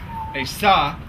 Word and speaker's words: Asah: It's Hoki, Asa, Mapopi, and then Satoki.